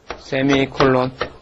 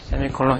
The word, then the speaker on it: 세미콜론: 어떻게 읽냐면 세미콜론이라고 읽어요. 세미콜론. 네, 세미콜론 이렇게 있습니다.